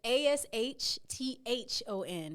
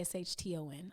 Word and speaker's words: Ashthon: So just so you know, I have 2 H's in my name. Okay. So it's Ashthon. Okay. Everybody wants to say Ashton. I understand, but the second H is silent.